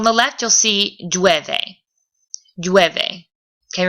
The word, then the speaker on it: llueve: Llueve. Okay, remember you're going to pronounce the double L like a Y.